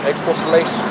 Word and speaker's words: expostulation: Expostulation. Expostulation. That's how you pronounce it, Salaki.